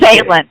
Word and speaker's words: Phelan: I don't want to mispronounce the name. Is it Phelan? Yes. Phelan, yes.